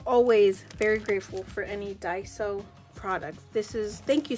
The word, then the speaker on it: Daiso: I always say it wrong. And the reason I say it wrong is because my daughter's name is Daisy. So I gravitate with Daisy when I know it's Daiso.